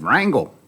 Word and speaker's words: Rangel: They said, let's change the pronunciation. I said, okay, I'm up for that. And they said, Wrangle.